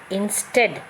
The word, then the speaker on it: instead: here inside the brackets so instead here two syllable words right so in instead so you find here stead is stressed okay divided into two syllable in stead so stress is given to still okay then you have